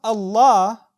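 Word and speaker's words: الله: But when you pronounce Allah, that same lam becomes light or heavy. It becomes heavy.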